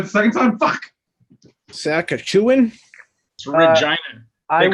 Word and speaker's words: Regina: It's Regina. I They call it the Oh, I city. was right. I just mispronounced it.